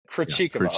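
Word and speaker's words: Krejčíková: And how do you pronounce her name? For the life of me, is it you say Krejcikova. Krejcikova.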